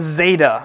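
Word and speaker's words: Xeyda: "I am Zeta." See if you figure out how to spell that, KTD.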